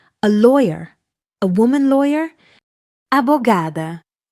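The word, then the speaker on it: abogada: Abugada. Abugada. Abugada. Your turn. Repeat after Lucia. Four syllables. Wait on gay. Abugada.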